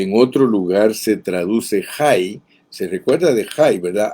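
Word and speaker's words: Hai: La palabra ruina, por ejemplo, que en otro lugar se traduce Jai, se recuerda de Jai, ¿verdad? H-A-I, que era ruinas. Se escribe de una manera semejante, pero es la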